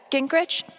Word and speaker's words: Gingrich: steph uh gingrich is that how you say it yeah that's